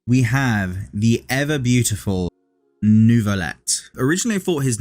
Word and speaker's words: Neuvillette: have the ever beautiful nouveaulette originally I thought his name was pronounced nouvelle but the way they pronounce it in-game is nouveaulette so I'm I'm guessing